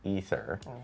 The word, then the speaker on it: Aether: War is the A is silent.